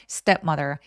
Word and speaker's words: stepmother: 요거는 SD에 크트프 소리들이 나오면 살짝 된 소리를 낼 수 있기 때문에 스텝 해도 됐지만 스텝 하면은 바람 소리가 너무 세니까 힘이 많이 들어가요. 그래서 step mother 해서 약간 된 소리를 내주면 훨씬 더 편하게 발음할 수 있습니다.